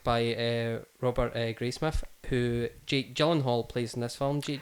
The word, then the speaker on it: Gyllenhaal: Gyllenhaal is how I've heard it said in interviews and things.